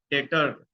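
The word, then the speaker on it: debtor: वो होता है हमारा डेटर। इसको लिखते डेप्टर हैं और बोलते डेटर हैं, बोलते समय ये बी साइलेंट हो जाता है।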